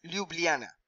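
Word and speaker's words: Ljubljana: también lo visité precioso la capital es liubliana más o menos se pronuncia así bulgaria bulgaria no es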